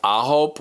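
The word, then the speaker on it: AHOF: This group their name is spelled capital A-H-O-F, so people are making fun of it. But in Korean, it is spelled A-Hope, which is the Korean word for 9.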